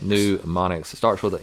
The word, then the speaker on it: mnemonics: Mnemonics. Mnemonics. It starts with an M. It rhymes with bubonics. Yeah, the M is silent, kind of like in pneumonia.